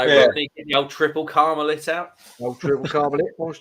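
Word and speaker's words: Tripel Karmeliet: They had one of the head brewers from Triple Carmelet on one of the episodes. And it's actually pronounced Triple Carmelit. Hmm. No, I had it's no not. idea. It is. I've been saying Triple Carmelet, and he's going, yeah, it's Triple Carmelit.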